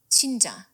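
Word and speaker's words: 진짜: want to hear the spelling would probably be c h i n j a so June chinja Dune chinja like perfect perfect here we go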